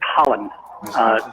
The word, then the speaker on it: Hollon: pronounced? She graduated from Baylor. Yeah, it's Hollon.